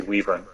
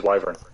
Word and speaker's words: wyvern: wrong no one pronounced you're the only person I've ever heard say Weaver it's always wyvern my Vern yeah or maybe